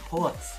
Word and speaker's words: ports: And that's like, ports even. It's ports. Oh, I've been saying it wrong for the whole tutorial.